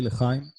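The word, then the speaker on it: L'chaim: So we say lechaim.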